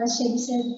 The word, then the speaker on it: Chebyshev: Actually, the pronunciation of Chebyshev here, Chebyshev. This is the Russian word.